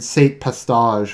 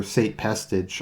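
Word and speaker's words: Sate Pestage: Palpatine had been a recluse for the better part of a decade, and Saint Pestage, or Saint Pestage, I've heard it pronounced both ways, had more or less been running things.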